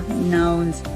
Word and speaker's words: nuance: And that's where it gets more nuanced. How'd you say that word? Nuance. Oh, I knew I wasn't saying it right. It didn't sound right.